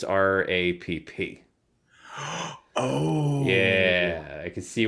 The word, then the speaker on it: Rapp: You don't pronounce his last name Rape? I do not, and I don't believe he does either. I thought the E at the end was silent, the R-A-P-P-E. There is no E, it's R-A-P-P.